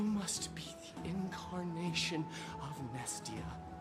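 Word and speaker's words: Mnestia: be the Incarnation of nestia you don't you don't really pronounce the M it's kind of there deeper unable to get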